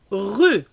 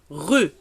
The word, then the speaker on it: rue: Rue. Le E, on ne le prononce pas. On ne dit pas rue. Rue.